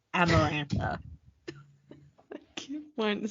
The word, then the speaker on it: Amarantha: oh it's see it because I kept wanting to say Samantha but it's amarantha keep want to say